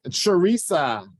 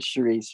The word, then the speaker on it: Charisse: now thank you yes Sharisa a Cherise Charisse maybe I'm not saying it right oh you said Charisse right I'm Charisse I'm